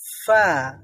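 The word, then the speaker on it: ف: হয় ফা টা ভিন্ন বাংলার মতো নয় বাংলাতে রয়েছে ফ অথবা ফা আমরা বলি দুইটা ঠোঁট দিয়ে উচ্চারণ ফা করতে করতে হয় বা ফতে করতে হয় কিন্তু এখানে দুইটা ঠোঁট দিয়ে নয় উচ্চারণ করতে হয় নিচের ঠোঁট আর উপরের দাঁত ব্যবহার করতে হয় উপরের দাঁতটা নিচের ঠোঁটের সাথে নিচের ঠোঁটের সাথে লাগবে তারপরে ফা উচ্চারিত হবে হ্যাঁ ফা ফা আচ্ছা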